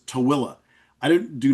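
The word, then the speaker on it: Tooele: So t o e l e and the colloquial pronunciation of that is tilla. I don't do not know how you get tilla out of a t. You know, it looks like tuli and that's what people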